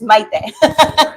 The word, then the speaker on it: Maite: Maite, by the way, because when I was talking to her, I was like, I always say it wrong. She's like, no, it's Maite.